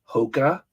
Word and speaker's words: Hoka: and the things people throw away huh apparently Hoka is a good running shoe that's the way you pronounce it uh I do not wear them